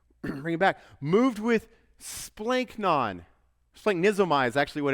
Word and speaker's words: splanchnon: and here's why one word one simple word splink non rolls right off the tongue let me let's just walk through how to pronounce it say it we're going to be